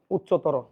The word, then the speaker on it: উচ্চতর: লেখ উচ্চারণের উচ্চারণটা লেখ উচ্চতর দেখেন তর আছে তর থাকলে কি কারান্ত হয়ে যাবে ওকারান্ত হয়ে যাবে উচ দেখেন স ত র ওকারান্ত হয়ে গেছে তাহলে নিম্নতম নাকি নিম্নতম